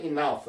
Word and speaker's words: enough: I've had enough. 나는 충분히 먹었다. 이것도 enough. 이것도 사실 삭각 발음입니다. enough도 아니고 enough도 아니고 enough. 어와 아의 중간 발음입니다.